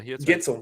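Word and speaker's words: Guentzel: I don't know how to say his last name, Gensel or something like that. Oh, Jake Gensel? Yeah, Gensel. Right. Yep.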